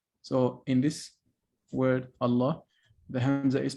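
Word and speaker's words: الله: when is it skipped it is pronounced when you start the word and it's skipped when you are connecting it to the previous word okay for instance allah so in this word allah the hamza is pronounced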